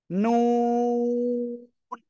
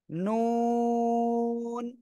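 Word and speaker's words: نون: জায়গা থেকে উচ্চারণ করব জিহ্বার আগা তার বরাবর উপরের তালুর সঙ্গে লাগাবো এই যে জিহ্বার আগা এটা এই উপরে তালু কি এরকম না এই তালুতে লাগাবেন লাগিয়ে উচ্চারণ করবেন নুন দুই ঠোঁট গোল হবে নুন চার আলিফ টান হবে সবাই একসাথে জোরে জোরে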